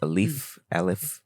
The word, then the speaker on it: Aleph: Aleph.